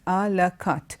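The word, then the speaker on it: à la carte: the set menu and you call it la cut okay it's pronounced a la cut do you have a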